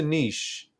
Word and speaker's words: niche: Again, I understand in let's pronounce it like Nick. Like if you've got like words like character and chronological, a ch, if it's derived from Greek, is pronounced as a k. So why not Nika? Uh, um, but yeah, that's a difficult thing with English. Depending on the word origin, you will pronounce a ch as how it's pronounced in the original one.